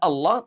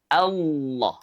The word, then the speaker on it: Allah: Setelah itu kemudian kita baca sesuai dengan harakat fathah yaitu membuka mulut kita Allah bukan memonyongkannya. Karena memonyongkan huruf itu kaidahnya berlaku hanya untuk huruf berharakat domah. Ya. Sementara Allah itu berharakat fathah. Allah. Jadi tidak dimonyongkan tidak Allah.